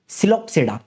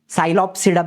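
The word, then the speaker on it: Psilopsida: सिलोप्सिडा P silent रहेगा सिलोप्स और उसका एग्जांपल है साइलोटम या फिर सिलोटम या साइलोटम जैसे भी आपको बोलना है। साइलोप्सिडा भी बोल सकते हो या सिलोप्सिडा।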